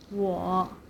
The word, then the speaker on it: 我: For example, I in Mandarin is called 我 in third tone 我 And he means 他